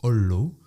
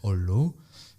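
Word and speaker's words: olló: premier c'est un mot qui se prononce hollow donc en gros quand on a deux consonnes donc la 2 l on les prononce on dit pas holo mais hollow et donc ça veut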